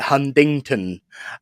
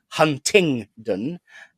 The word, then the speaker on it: Huntingdon: a proper Fanny sometimes I call it hundington um but it is of course Huntingdon um so I'll be